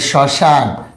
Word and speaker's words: শ্মশান: মফলা দেখেন এই যে শ্মশান, শয় ম, শয়কার দন্তন, শ্মশান।